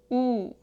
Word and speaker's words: 우: O 우.